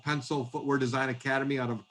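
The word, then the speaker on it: Pensole: time um we're collaborating with an outfit called pencil footwear design academy out of portland oregon it's spelled p-e-n-s-o-l-e and they're going to be starting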